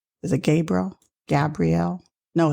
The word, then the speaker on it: Gabrielle: this earth, there is a professor of psychology, Gabriel. Is it Gabriel? Gabrielle?